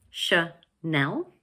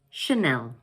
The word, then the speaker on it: Chanel: This word has 2 syllables, Chanel, and the second one is stressed. So in English, we pronounce it Chanel. Chanel.